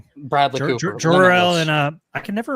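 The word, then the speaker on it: Jor-El: It's Jorel. People are going to hate you if you keep saying it wrong.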